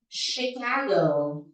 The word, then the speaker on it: Chicago: Okay, now words with ch spelling but sh pronunciation. Chandelier, Chicago, sachet, sachet, sachet.